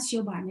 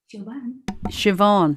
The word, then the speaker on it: Siobhan: i say her name no it's not choban it's uh it's obama siobhan yeah it's the bhs has has a v sound in irish yeah and you know